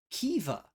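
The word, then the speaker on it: Caoimhe: It's pronounced Kiva.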